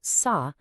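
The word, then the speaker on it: 사: The number four, which is pronounced sa, sounds exactly like the Korean word for death.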